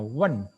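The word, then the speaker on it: 问: Ya, bertanya dalam bahasa Mandarin adalah bacanya wen, ada keempat.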